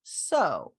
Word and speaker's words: sow: Trowel, cloud, sow. Now this word can also be pronounced sow. Sow is when you plant seeds. Sow is a female pig.